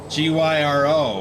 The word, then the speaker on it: gyro: a misspelling of of the Greek word gyro g-y-r-o which I always pronounce gyro because I didn't know any better like a pita sandwich